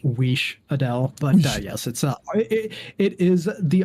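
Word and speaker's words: Wiš'adel: Unless you compare them to Wizdell? Wizdell, is that a character in... It's technically pronounced Weesh Adele, but yes, it is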